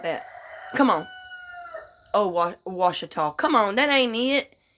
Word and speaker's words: Ouachita: and Ouachita River, and I call it Ouachita. He gets so damn mad. He said, "That ain't how you say it." I said, "I guarantee you that's how the Indians said it. I guarantee you that's how they said it."